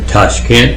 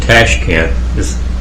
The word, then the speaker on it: Tashkent: Hey, I would always pronounce it Tashkent, but it's Tashkent. The way that it's spelled these days is Toshkent. The Soviet way, the Russian way, is with an A, but the Uzbek way is to spell it Toshkent. So yeah, Tashkent.